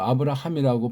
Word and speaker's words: 아브라함: 아브라함이라고 발음하셔야 돼요.